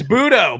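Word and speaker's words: Buttó: butcher his name, Jose Budo? It's Budo, but you can say Butt because it's spelled Butt.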